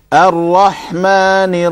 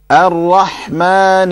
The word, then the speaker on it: الرحمن: Ha in Rahman Ar-Rahim needs to be clearer, sharper. Rahma, it sounded a little bit like a small, like the lighter, smaller ha.